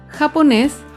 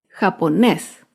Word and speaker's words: japonés: otro ejemplo con la palabra japonés japonés es una palabra aguda se acentúa en la última sílaba y lleva tilde porque termina en la consonante ese japonés un ejemplo de una palabra